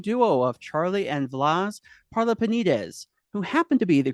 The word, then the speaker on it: Parlapanides: It's like we say Parlapanides almost rhymes with Wheaties, but not really.